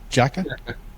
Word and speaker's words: Jacka: Benedict Jacka. Is that how it's pronounced? Jacka? Yeah. Okay, good, good.